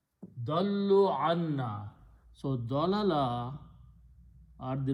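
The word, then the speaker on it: ضلوا: So dal, dal, lam, dallu, they went away, they departed. So two lams will be written with a shadda and wow is a plural and a alif is written which is not pronounced.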